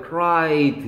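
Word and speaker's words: cried: 이게는 크라이 트가 아니라고요. 크라이드 이렇게 되는 거죠.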